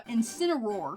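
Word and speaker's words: Incineroar: Uh, Incinor. Yes, good job. I'm proud of you. It's like teaching like a four-year-old how to speak. Incinor.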